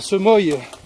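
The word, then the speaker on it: Semoy: Mais en France, ils l'ont appelée la Semoille. Je pense que ça se dit comme ça, ou la Semois. Non, là, c'est bon. Et du coup, ça s'écrit S-E-M-O-Y en France. Et nous en Belgique, ça finit par O-I-S.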